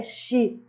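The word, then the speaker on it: 四: O quatro em japonês é X.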